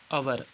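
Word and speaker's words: hour: एक रेखा खींचनी है देखिए एच ओ यू आर एच ओ यू आर इसे क्या पढ़ते हैं हम और अवर अवर पढ़ते हैं इसलिए क्या साइलेंट है इसमें एच तो एच के नीचे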